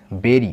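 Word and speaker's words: buried: উভয় বেরিড দা বডিস বেরি উচ্চারণটা হবে বেরি ঠিক আছে বেরিড মানে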